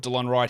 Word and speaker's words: Delon Wright: Mainly I put DeLon Wright here because I wanted to say his name correctly.